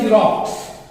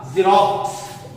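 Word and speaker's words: Xerox: या फिर ले लिया हमने जीरोक्स, जीरोक्स, जीरोक्स। यहां पे देखिए एक्स का उच्चारण जो हमें जा के रूप में मिला, जा, जीरोक्स।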